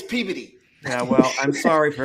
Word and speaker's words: Peabody: It's spelled P E A B O D Y. Peabody. Everybody else, it's Peabody. Up there, it's Peody.